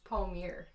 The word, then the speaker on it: Palmiere: So like Rachel said, actually it's Palmiere.